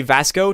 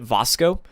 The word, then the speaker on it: Vasco: Vasco not I think a lot of people say Vasco Todd Howard pronounces it Vasco so Vasco looks great